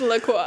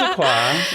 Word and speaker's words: La Croix: It's pronounced La Croix. It's pronounced La Croix.